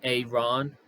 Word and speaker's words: Aaron: his press conference that he pronounces his name Aon so um that's going